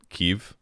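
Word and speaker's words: Kyiv: guys I appreciate it keev is how they pronounce it so that's why I say keev that's all Octan prism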